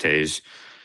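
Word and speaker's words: Toews: I got to Oh, so it's T O E WS, but his name is pronounced Taz.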